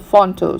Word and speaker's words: Phonto: and for that I use a software called Fonto.